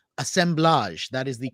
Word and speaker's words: assemblage: brand new book called assemblage that is the correct way to pronounce it it is a French word and I'm so thrilled